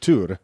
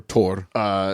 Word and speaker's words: Thor: I think it's pronounced Tur. It's pronounced a lot of things. Well, there's a lot of different, but yeah, you're absolutely right. Tur. And or Tor.